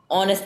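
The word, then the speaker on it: honest: H pronounce होता है ओ से, बस ये नहीं कि हमारा वर्ड ओ से शुरू हो रहा है, एच से हम लिखते हैं, लेकिन जो प्रोनाउंसिएशन होती है ऑनेस्ट की वो ऑनेस्ट होती है, एच साइलेंट होता है।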